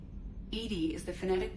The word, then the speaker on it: EDI: is a jar def why are you named Ed Ed is the phonetic pronunciation of Eed that is an acronym for